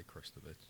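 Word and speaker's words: Krstović: have a pronunciation again how we saying this kovich say christovich just yeah kovich it's KR so christovich christovich he got a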